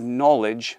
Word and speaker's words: knowledge: i say if you've knowledge there's no nerves now okay i know knowledge is spelt with a k but phonetically it's an n so nerves no knowledge